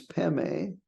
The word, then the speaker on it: Padme: The Pema, the Tibetans pronounce Padme as Peme, and then the Hum represents the mind of all Buddhas.